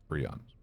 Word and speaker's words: prions: Can't remember the correct way to pronounce that. I think it's prions, which are known to be linked to neurodegenerative diseases. Prions.